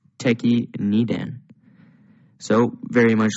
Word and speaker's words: Tekki Nidan: In today's kata video, we're going to be looking at your 8th black belt kata, or your 18th kata, which is pronounced Tekki Nidan.